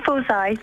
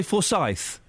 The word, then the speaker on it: Fory: about something completely different how do you say your last name um fory fory does it annoy you does it annoy you when people say forye no that's fine it either way fine I don't mind are